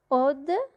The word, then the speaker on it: eau: Puis, on a la terminaison mon, comme le gouvernement, le monument, le médicament. O, E-A-U, ça se prononce O, comme le bureau, le couteau.